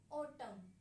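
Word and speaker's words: autumn: एस यू कैन सी I have written ऑटम। इफ यू ट्राई to pronounce N you will get difficulty. अगर आपको एन को pronounce sorry pronounce करने की कोशिश करेंगे तो आपको डिफिकल्टी फील होगी। आप करके भी देख सकते हैं। अगर हम क्या करते हैं? एन को साइलेंट रखते हैं तो एक फ्लो बन जाता है।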